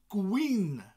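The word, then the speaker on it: gwin: of wine and wine in Welsh is Queen Queen rhymes with green Queen g-w-i-n Queen what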